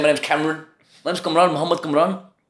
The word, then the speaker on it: Kamran: So me saying, my name's Kamran.